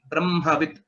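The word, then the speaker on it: ब्रह्मवित्: So the Bakara is a Alpa Prana. Brahmavit. That is the right way of pronouncing it. Brahmavit. Yes. Brahma. Again, this is a special case of pronunciation which we are following. So M first and then Hakara.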